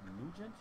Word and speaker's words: Nugent: I think they pronounce it Nugent.